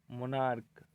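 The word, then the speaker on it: monarch: मोनार्क, जिसमें क होता है, जिसका हिंदी राजा होता है।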